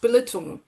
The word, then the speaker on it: Belitung: Um but actually it's pronounced Bullet. Uh and it's quite interesting to know that this is where Bilitin BHP got its start on the island uh of Bullet.